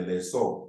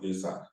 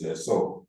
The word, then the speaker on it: lessor: A lease is an agreement whereby one party is known as the lessor, not leaser, the way some people call the correct pronunciation is lessor, conveys to the lessee